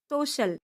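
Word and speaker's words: social: सी का अगला रूल है। सी के बाद आई ए या आई ओ आए तो सी का उच्चारण शाह होता है। जैसे एस ओ सी आई ए एल, सोशल, एस पी ई सी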